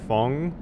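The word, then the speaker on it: Feng: Realizing I've been calling you Fing, but I have heard that this name can also be pronounced Fong, depending on where you're from and where your name originates from. I'm probably going to keep going with Fing, just because, I mean, it's what I default to, but it might be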